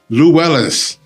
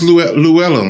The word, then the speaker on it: Llewelyn: Thomas Llewellis. I I know I probably butchered your name. So welcome to the studio. Thank you. Thomas Llewellyn, right? Yes. Lwellen.